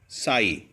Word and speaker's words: psi: साई, PSI, इसमें P silent है और ये वेवी मोशन में मूव करेगा।